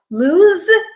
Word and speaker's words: loose: of loose to summarize loose with the z sound is a verb loose with the S sound is an adjective it describes nouns it